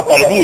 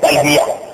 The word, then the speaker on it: تلبیہ: وہ تلبیہ نہیں ہے, یہ اردو لفظ نہیں ہے, یہ عربی لفظ ہے, اس کا تلفظ صحیح ہے تلبیہ.